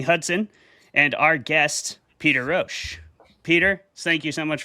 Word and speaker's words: Rosch: Our debaters tonight are going to be Jeremy Hudson and our guest, Peter Ro. Peter, thank you so much for coming on the show, man. I am pronouncing your name correctly.